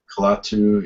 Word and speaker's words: Kalatu: Um, Well, funnily enough, I just started I've got a new Calatu blog. Is that how you pronounce it? Calatu? Kalatu, yeah, yeah.